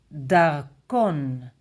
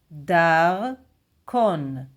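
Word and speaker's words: דַּרְכּוֹן: So, singular, Darkon, Darkon, Darkon, Darkon. It's from the word derech, Dalet, Resh, Kaf. Without Niqqud, derech. Derech is way or road. So you understand the logic of using the word darkon.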